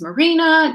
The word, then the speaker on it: Marina: well my name is marina just like where the boats go it's spelt and pronounced exactly the same so truthfully I am